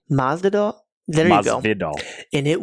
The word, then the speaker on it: Masvidal: Masvidal.